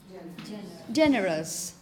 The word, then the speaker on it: generous: So whenever you find this suffix, the picture in your mind should be that of schwa and yes, us, us, us. Because all these adjectives ending in this suffix are going to be pronounced exactly the same.